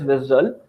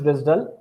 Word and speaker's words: WSDL: WSDL which is pronounced as visel and UDI.